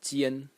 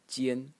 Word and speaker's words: 艰: The next character in this series is pronounced Jian. Jian.